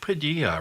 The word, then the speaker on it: Padilla: And to Mike Padilla, rhymes with tortilla, our technical producer.